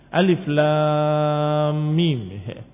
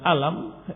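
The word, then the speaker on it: الم: mereka berjuang untuk mereka diawali dengan huruf Alif Alif Lam Mim dibaca bukan dengan alam tetapi dibaca bacalah Hai dan mim dibaca minggu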